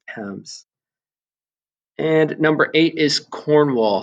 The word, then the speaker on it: Thames: notice here that thames it looks like it's pronounced thames but it's thames and number eight is cornwall so this portion